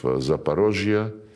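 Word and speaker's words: Zaporozhye: And when we now liberate remaining parts of Zaparosia, this is the Russian way to pronounce it.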